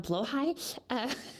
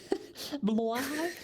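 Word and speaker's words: Blåhaj: Um um actually it's um blowhai. Blahigh. Close enough.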